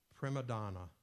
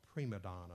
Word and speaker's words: prima donna: Prima Donna, or Prima Donna. There's two pronunciations of it. Prima Donna or Prima Donna.